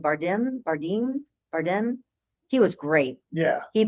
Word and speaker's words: Bardem: Bardem.